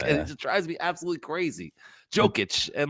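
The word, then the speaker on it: Jokić: It's Jokic, not Jokic. You're not itching a joke. It's Jokic. Joic. Joic. It's a soft J. Come on. Like it drives me absolutely crazy. Jokic.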